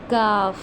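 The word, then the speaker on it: ق: उसको हमने सख्त यानी कि जो हमारे तालुक का सख्त हिस्सा है ना उससे अदा करना है। यानी कि इसके इस वर्ड के अंदर सख्ती होनी चाहिए। जब हमने इसको प्रोनाउंस करना है तो ऐसे पढ़ेंगे काफ। काफ। ठीक है? ये देखिए ये राउंड है ना? तो इसको हम ऐसे अदा करेंगे। सॉरी इसको हम अदा करेंगे। कॉफ कॉफ। इसको हम अदा करेंगे काफ।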